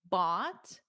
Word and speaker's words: bought: Just remember it's exactly the same as this. Like a chatbot bot. A robot. Bot bot. Exactly the same pronunciation.